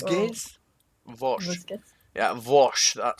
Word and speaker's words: Vosges: And it's gonna be our match is gonna be on Vosh. Yes. Or Vosges, as you guys all mispronounce. Vosges? Vosh.